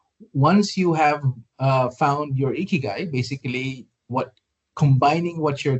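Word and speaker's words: 生き甲斐: It's pronounced as ikigai, Ikigai.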